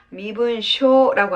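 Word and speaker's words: 身分証: 그래서 신분증을 뭐라고 읽는다? 미분쇼라고 한다는 겁니다.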